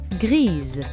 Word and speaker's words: grise: When it's used to describe feminine nouns, it becomes grise. The S here is pronounced like a Z.